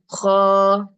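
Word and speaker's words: خاء: I'm not saying ha. Am I saying ha? No. I'm saying kha. Like that. So alif, ba, ta, sa, jim, ha, kha. Don't say ha.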